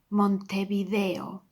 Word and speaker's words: Montevideo: And the next one, it has a V, pronounced like a B, but all the vowels has to be read Montevideo.